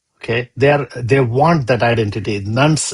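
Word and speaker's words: nones: Nuns is not very easily known. Many people have to spell it, not N-U-N-S, it's N-O-N-E-S.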